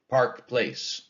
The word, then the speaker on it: Park Place: And we don't say Park Place. We say Park Place. Two equally stressed syllables.